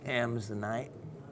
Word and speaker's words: Amazonite: Amazonite crystals I have, correct pronunciation being Amazonite, after the Amazon River, where a deposit was thought to be.